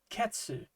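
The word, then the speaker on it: 血: When it's used as part of a larger kanji, it will usually be pronounced ketsu as in ketsi, which means vampire.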